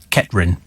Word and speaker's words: Kettering: And apparently Kettering is pronounced Kettrin for the locals.